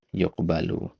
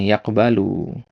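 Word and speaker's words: يُقْبَلُ: Nah, ini mabnil majhul ini yuqbalu ya. Kenapa dikasih domah? Kalau enggak dikasih domah antum bacanya yaqbalu. Ya, artinya lain. Kalau yaqbalu artinya menerima. Yuqbalu artinya diterima.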